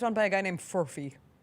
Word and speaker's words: Furphy: I thought it was Murphy. It's Fury. All right. Shout out to the F dog. Not Furby, not Murphy, but Fury.